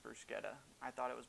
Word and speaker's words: bruschetta: are making our mexican bruschetta and yes it's pronounced bruce getta i thought it was bruschetta until i started making this video i decided to look it up it is in fact bruschetta last week i asked for lots of advice